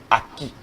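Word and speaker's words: ackee: C'est ce qu'on appelle aki. Aki s'écrit de 3 formes différentes, que ce soit en anglais ou en français, c'est la même chose.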